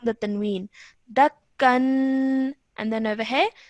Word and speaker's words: دكا: And then over here, this would be dakka. دكا. Yes, because you're stopping, the stopping rule applies over here. So you would only pronounce one fatha of the fatha then, and obviously the alif madda would remain. So you'd say dakka.